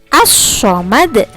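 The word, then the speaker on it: الصمد: Nah, silakan ditirukan Bunius cara membacanya, yaitu As-Samad.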